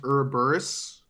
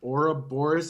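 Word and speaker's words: Ouroboros: or the air back it is not pronounced or a burruss or whatever its aura Boris and it drove me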